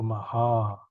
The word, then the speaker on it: Maha: the first a is one count okay so Maha because a little longer is all right hot